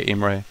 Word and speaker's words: Imre: So we would say his nickname with like the French pronunciation by default, which I think I heard everybody always say Imre. Okay. Then Imre again, I'm not very good with nicknames, you know.